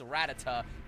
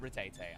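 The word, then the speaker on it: Rattata: Yeah, speaking of rats, I know it's I know it's ret I know it's Ratata, but I do pronounce it Rattete.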